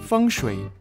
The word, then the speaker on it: Feng Shui: Well, Feng Shui is actually pronounced Feng Shui, which is written with the Chinese characters for wind and water.